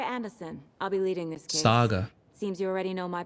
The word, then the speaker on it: Saga: I'll be leading this Saga seems you already know my partner Alex Casey over here pronouncing it Sega like the old console sorry about that ma'am